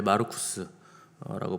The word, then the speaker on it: 마르쿠스: 마가는 로마식 이름이고 정확하게 발음하면 원래 마르쿠스라고 불러야 되고 히브리식 이름으로 쓰면 요한이라고 부르고 헬라어로 쓰면 요하네스라고 발음하는 사람인데 사도행전에 보시면 요한 마가라는 사람이 등장하잖아요.